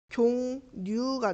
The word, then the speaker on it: 식용유: 식용유도 니은 첨가가 먼저 일어나서 식용유가 돼야 돼.